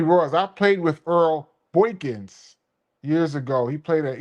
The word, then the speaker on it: Boykins: He keeps on saying Boinkkins. It's not Boinkkins. Earl Boykins. Boykins. It's Boykins.